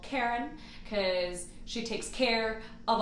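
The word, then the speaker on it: Cairen: the ship we call Karen, because she takes care of us when we are in her, the Karen. And then it's spelled C-A-I-R-E-N. Also like the car in the air, the air.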